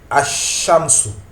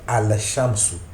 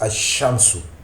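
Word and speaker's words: الشَّمْسُ: la lettre et ici le LaM du Alif Lam n'est plus prononcé donc ici on va prononcer as shamsu et non à shamsu on prononce as shamsu pourquoi cette différence cette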